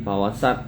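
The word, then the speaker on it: فوسطن: Yang bener apa? Nah, yang bener sin fawasat.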